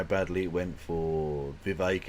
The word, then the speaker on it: Vivek: There's no way he'd have done this conversation, considering how badly it went for Vivek, it rhymes with K.